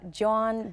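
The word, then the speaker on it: jawn: with art john and i'll spell that for you because it's it's a philly word john j a w n is like pass me that john over there or i went to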